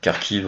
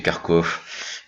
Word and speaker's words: Kharkiv: Alors Kharkiv en ukrainien, ou prononcé Kharkov si vous êtes russe, où ce sont des images qui ont été prises pendant la grande famine ukrainienne.